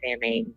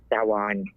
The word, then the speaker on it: Samhain: I know the Muggles call it Samhain, so I figured I'd say it that way. But it's actually pronounced Samhain.